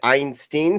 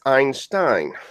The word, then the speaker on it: Einstein: Yet, whenever someone said Einstein, someone always correct them as Einstein.